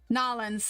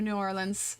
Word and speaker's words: New Orleans: Nolans, yeah, they pronounce it Nolans, yeah, instead of New Orleans.